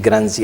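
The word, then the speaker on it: Le Grange: coisa, eh, Luis Gran, embora se escreva Luis Gran, pronuncia-se Luis Grani à african com nome francês, afric africanarizado.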